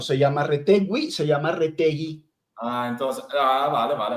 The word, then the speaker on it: Retegui: juega con selección italiana no lo puedo llamar Retegwi? Porque no se llama Retegwi, se llama Retegui.